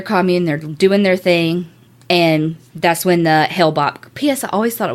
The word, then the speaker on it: Hale-Bopp: cuz I was like I really always thought it was Haley Bob I mean they probably pronounce it like that down here everything else because I read a feat like like read and listen to some stuff and I was like he'll Bob Hale Bopp benefit up I do